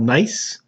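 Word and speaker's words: gneiss: turned into something called nice uh we don't pronounce the g uh and then a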